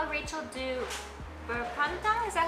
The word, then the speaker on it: berpantang: So Emmy asks, how would Rachel do berpantang? Is that how you say it? Yeah, berpantang.